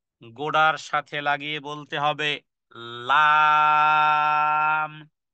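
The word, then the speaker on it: لام: সাথে লাগিয়ে বলতে হবে লাম লাম জিহ্বার আগা সামনের উপরের হ্যাঁ সামনের উপরের দাঁতের গোড়ার সাথে লাগিয়ে বলতে হবে লাম লাম যেমন লা ইলাহা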